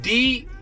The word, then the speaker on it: DLIVRD: DLIVRD app is spelled D-L-I-V-R-D, DLIVRD.